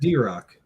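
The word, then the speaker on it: Drokk: doesn't make sense at drock you just type in that drock it'll come right up yeah but it's spelled differently and it looks weird d-r-o-k-k it's all good yeah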